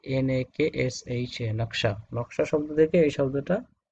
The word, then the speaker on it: নকশা: নকশা না উচ্চারণ কি, NAKSHA, নকশা।